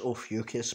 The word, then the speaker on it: Ophiuchus: It's pronounced Ophiuchus, by the way.